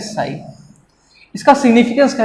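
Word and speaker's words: psi: ये जो त्रिशूल जैसा है, इसको कहते हैं साई। पी साइलेंट होता है, इसको कहते हैं साई।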